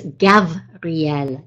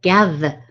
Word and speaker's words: Gavriel: align correctly to Gabriel's vibration, you need to pronounce his name, right, in as his Hebrew name, which is Gavriel, Gavriel.